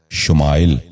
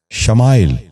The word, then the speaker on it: شمائل: نواں لفظ ہے شمال۔ یہ غلط تلفظ ہے، درست تلفظ ہے شمال۔ دوبارہ سنیے، شمال۔ بچوں آپ بھی غور سے سنیے، شمال۔ 10واں اور آخری لفظ ہے شمائل۔ یہ غلط تلفظ ہے،